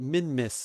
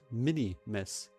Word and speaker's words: Minmus: I always just call it Minmus. Yeah, and the way it's spelled, Minmus, I just never paid attention that it wasn't Mini-Miss.